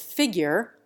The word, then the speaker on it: figure: The English reduce the last syllable of figure to ger. The educated American preserves the U sound, as in nature.